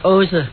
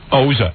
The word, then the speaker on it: Oza: And my name is Oza. Oza. And Oza. After the ozone layer in the sky? No. Oza. Three more you letters can't in there.